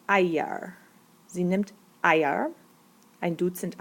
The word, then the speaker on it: Eier: Und sie nimmt auch, this is singular, pronounce that, I, pronounce that, it's Eier.